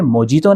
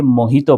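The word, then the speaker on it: mojito: वहां पे जे का साउंड ह या य के साउंड में प्रोड्यूस किया जाता है। इसलिए इसे मोजितो नहीं बल्कि मोहितो पढ़ना है।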